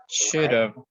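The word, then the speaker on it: should've: This is pronounced should have. Should have. Should have. It has a v sound.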